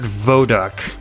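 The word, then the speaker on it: Wodok: co-founder I think his name is Bernard it's pronounced Bernard vodu w o d o k the two of them together did most code for most games vodu is actually the coder who wrote the GX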